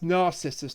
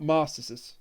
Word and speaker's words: Narcissus: No, that's Narcissus, not Marcissus.